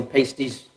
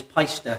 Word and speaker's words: Paiste: pasty or pastry yeah i just call pasties pronunciation is paister uh them paister yeah that's that's from the guys in germany well we've learned something